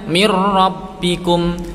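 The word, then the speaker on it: مِن رَّبِّكُمْ: Yang benar gimana? Mirrabbikum, mirrabbikum. Paham ya? Mirra, bacaan idgham bila gunnah. Kenapa? Ada nun sukun bertemu ra. Cara membacanya dimasukkan ke huruf ra tanpa disertai dengung.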